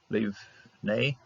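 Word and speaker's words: לִבְנֵי: No dagish here, so we're going to pronounce it ve. Lebanei. Leave-nei. Yeah, that's a close syllable right here. So we don't have to pronounce this particular shava. Leave-nei.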